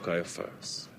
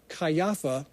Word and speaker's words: Caiaphas: However, that last name probably shouldn't be pronounced Caiapha. It's probably Kopha or Kufa.